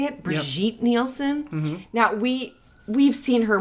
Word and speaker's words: Brigitte Nielsen: Brigitte Nielsen?